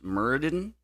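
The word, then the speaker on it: Myrddin: of not quite Merlin, but I believe it's pronounced Murden, who is the sort of real life basis.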